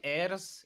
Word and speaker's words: Ayers: Is his name Ayers? Is that how it's supposed to be pronounced?